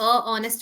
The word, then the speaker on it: honest: A honest opinion or an honest opinion?